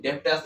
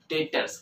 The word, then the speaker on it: Debtors: ये, डेब्टर्स है, डेब्टर्स नहीं, डेब्टर्स नहीं, ठीक है, कोई भी डेब्टर्स मत पढ़ना इसको, ये क्या बोलते हैं इसको हम लोग, डेटर्स। क्या बोलते हैं, इट्स डेटर्स, बी यहां पर जो है वो साइलेंट है।